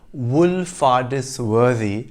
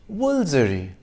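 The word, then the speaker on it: Woolfardisworthy: actually pronounced balik and the village in devon which looks like it should be pronounced wool farthest worthy is pronounced woolzery if you go to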